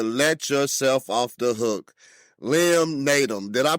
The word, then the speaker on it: Liam Naden: you have to let yourself off the hook Li naum did I pronounce that right man you sure did n